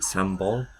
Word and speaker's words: sambol: Then we've got some dal, and I think this is called a coconut sambal. They pronounce it sambol, I think.